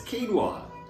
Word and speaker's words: quinoa: I know how to say it. It's quinoa. 1 cup of quinoa.